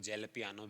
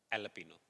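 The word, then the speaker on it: jalapeño: लापिनो हा 99 पर उसको जेल पिनो बोलते बट जे साइलेंट होता है कांड फम ठीक है कई लोग जेल पियानो भी बोलते बट एल पनो जे ए एल ए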